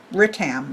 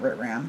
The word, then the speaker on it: Ritam: Ritam, not Ritram.